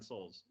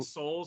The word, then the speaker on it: Sols: It's called Nine Souls.